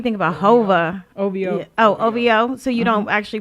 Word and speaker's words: OVO: you don't be thinking about hover over oh ovo so you don't actually pronounce it you just you don't say ovo but what else do we got so o-v-o